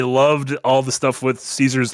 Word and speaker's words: Caesar: And then also, I loved all the stuff with Caesar's Legion or Khazar's Legion. They don't know how to pronounce the soft C.